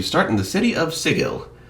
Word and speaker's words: Sigil: In the setting of Planescape, you start in the city of Sigil. Yes, the Matthew Mercer pronunciation of that word is in fact correct when applied to the Planescape city.